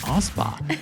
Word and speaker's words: Alspach: was like I know her last name is pronounced Ospa.